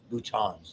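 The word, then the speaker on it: boutons: The distal endings are called terminals or terminal bhutons is the way you pronounce that. But if you feel like saying button is okay with me spot the axon conducts the impulse the transmitter.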